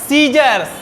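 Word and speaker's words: scissors: चलो सीजर का स्पेलिंग बोलो तो जरा, SCI, ये है मॉलिक्यूलर सीजर्स। चलो साइलेंट है वो, लिख लो।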